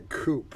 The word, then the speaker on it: coup: char oh that's a coop well it is that's how you spell it but snedeker negotiates a tricky chip brilliantly jim answered him saying i was doing c-o-u-p for coo char right look at